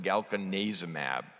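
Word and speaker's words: galcanezumab: a so this is galkin azem AB this is the third one released it was approved on September 26 and for reasons that are not clear it's pronounced galkin neza mAb again same indications this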